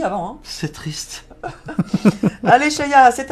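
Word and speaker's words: Sheya: Alors, Cheya, ça s'écrit S-H-E-Y-A.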